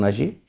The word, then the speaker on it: Ashi: Please sit down, Ashi. Thank you, sir. So, Ashi is the right pronunciation?